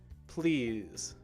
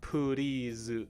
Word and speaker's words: please: course the word please please right the p and the l sounds together are one sound not puri zu right not poo but pull please alright good go ahead